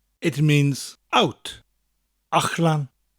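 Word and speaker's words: allan: Ach-lan. It's spelled A-L-L-A-N. Again, the double L sound sounds a little bit different in the middle of a word. It's a CH sound with a slight L.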